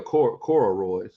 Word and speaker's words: corduroy: It's corduroy, right? With a D? Yeah. He didn't have a D in there. It was just Corrory. I was like, oh shoot, I've been saying it wrong this whole time.